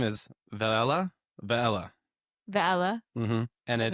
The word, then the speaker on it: Velella: Vala or something? No, I I actually looked up on YouTube how to how to pronounce this thing. Okay, cool. So, it scientific name is Vala.